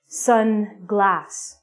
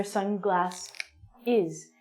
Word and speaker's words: sunglasses: If you're not a pirate, you need to wear sunglass is. The pronunciation of this word is difficult because you have to add an extra syllable at the end.